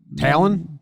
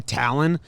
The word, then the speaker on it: Taillon: Texas, his dad just, he went by Taillon until he played baseball in, Montreal or in Canada, a showcase in Canada where they called him Taillon. And he was like, oh, that's how you say my name?